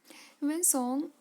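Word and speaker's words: Hiuen Tsang: वेन सॉन्ग की spelling, लिखते कुछ हैं पढ़ते कुछ हैं। सॉन्ग में हम लिखते हैं TSANG, तो ध्यान देना जब भी आप पढ़ो इसे।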